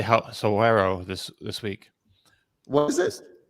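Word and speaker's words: Saguaro: I learned how to say Soero this week. What is it? Soero, I think, or maybe I'm Suero?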